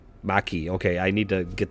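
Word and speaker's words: Makee: the covenant's name ma i think is pronounced maki maki okay i need to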